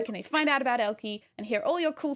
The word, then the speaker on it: Elkei: and lastly you know elky documentation oh yeah all the places um elky is a bit of a weird word